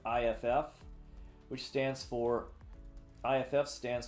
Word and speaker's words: iff: say we say if and this also is pronounced if iff which stands for iff